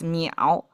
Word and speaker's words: 淼: If you don't know, it's pronounced as miǎo.